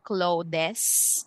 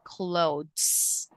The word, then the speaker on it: clothes: we say climbers and then we have okay this uh word clothes so this is pronounced with silent e so we don't say clothes but we say clothes okay so it's silent